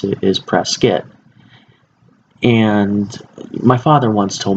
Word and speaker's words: Prescott: to pronounce it is press kit and my father once told me of saying he said that there are no Scots in Prescott and had three that